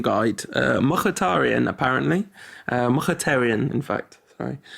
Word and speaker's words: Mkhitaryan: But yeah, I think the Rantcast official pronunciation might be Mkhitaryan, just to avoid patronising anyone or getting anything wrong.